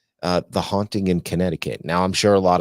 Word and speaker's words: Connecticut: Like connect? That's how it's spelled. Ticket? Yeah, that's how it's spelled. Connecticut. And we're going to visit a little town called Southington.